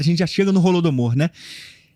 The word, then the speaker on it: Holodomor: chega no holodomor né a pronúncia é é holodomor rol es com H é em em ucraniano fala golod golod domor né enfim são é porque mas eu posso falar holodomor ou pode falar holodomor é porque já foi a aportuguesada né a palavra eu falo rolo domor porque é mais uma pronúncia ocidentalizada mesmo né rolo do amor mas